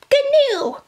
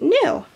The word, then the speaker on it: gnu: it should be pronounced canoe uh you know what grandma that's a very good observation but I think the g is silent in this word which is funny right